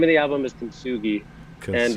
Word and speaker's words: Kintsugi: How do you pronounce it again? So the name of the album is Kintsugi, and Kintsugi.